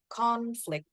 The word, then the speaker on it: conflict: Again, as you can hear, the first part is clear. Number 3 is conflict. Oh, conflict. But the number 4, you use the schwa sound. Conflict. Okay, conflict. Instead of o. So that's how we tell the difference.